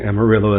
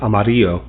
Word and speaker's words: Amarillo: I know that correctly pronouncing Amarillo is Amarillo, but uh we just call it Amarillo.